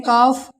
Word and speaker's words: calf: अब देखते हैं एफ से पहले CALF, एफ से पहले यहाँ एल है तो ये भी हमारे क्या है, साइलेंट। इसे पढ़ेंगे काफ, हफ।